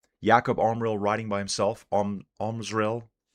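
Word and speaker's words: Omrzel: Omril. An R and a Z put together. Smash those two together. Make it happen.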